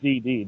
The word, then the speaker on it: DxD: want to call it just DD they don't pronounce the X at all well listen wow okay